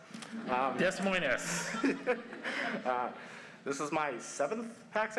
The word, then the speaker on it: Des Moines: I'm from Des Moines, Washington, where we pronounce the S. Des Moines.